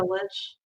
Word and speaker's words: lich: Evil wouldn't be a lich. A lick, however you pronounce it.